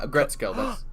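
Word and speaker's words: Aggretsuko: uh a agret a gretzko is that yeah a gretzkov you said it right bless your heart yes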